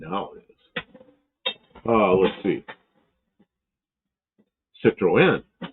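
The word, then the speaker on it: Citroën: Citroen. Citroen. This is Mark Sullivan. So, there are accents on the last syllable.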